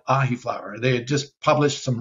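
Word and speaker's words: Ahiflower: Then I found a plant called ahi flower. They had just published some research on it. Spell that one for us. Ahi, like the fish, AHI, and then flower, FLOWER.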